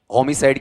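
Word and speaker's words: homicide: बोलो स्पेलिंग बोलो। एच ओ एम आई सी आई डी ई। होमीसाइड किसे कहते हैं?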